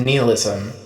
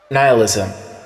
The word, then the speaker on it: nihilism: to declare it a love letter to Neilism. Nihilism. I took a worldview course freshman year of high school in which it was exclusively pronounced neilism for reasons unknown. Pronunciation that's followed me then onward.